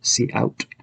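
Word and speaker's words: cout: in the example before the input and output from the standard libraries are pronounced c in and c out and these are standard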